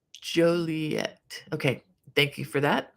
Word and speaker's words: Joliet: Um, and uh, Jan says, "The storms haven't reached me in uh, Juliet. Pronounce Joliet."